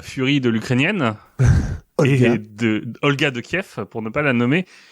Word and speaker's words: Kiev: est fautif parce que j'ai appris récemment que cliffs est elle la façon une chrétienne de prononcer le nom et kiev la façon russe et que en ce